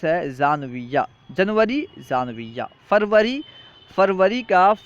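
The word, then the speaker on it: ژانویه: تلفظ کیا ہے، دیکھیں۔ جنوری، جنوری کا فارسی تلفظ ہے زانویہ، جنوری، زانویہ۔ فروری، فروری کا فارسی تلفظ ہے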